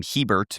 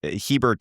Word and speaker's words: Hebert: and in the NFL, people frequently pronounce my last name wrong. Like, they'll just throw an extra R in there, which is, Hebert isn't like a super common last name. But I like to use he, as in Justin Herbert, as motivation, because